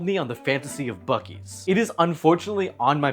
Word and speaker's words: Buc-ee's: This is a Bies, or if you'd like to pronounce it by its legal name, Busies.